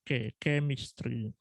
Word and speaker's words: chemistry: albumnya takziah atau Alchemy ini membacanya Keya bukan C bukannya karena C bukan berarti C Tapi bacanya kem istri ah kemudian eh dari